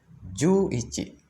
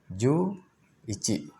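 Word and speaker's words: 十一: Nah, jadi pengucapannya 10 dulu. 10 apa? 10 yaitu ju. Ya. Ju 1 apa? Ichi. Ya, maka jadinya ju ichi. Itu dia. Ju ichi.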